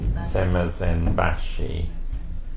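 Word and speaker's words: semazenbaşı: Semazambashi.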